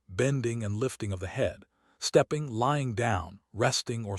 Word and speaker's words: He: He, pronounced like Her, with a yawn which is associated with the heart.